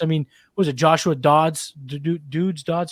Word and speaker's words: Dobbs: out young quarterbacks I mean was it Joshua Dodds dudes dots how do you say his last name Dobbs you know he got a lot on him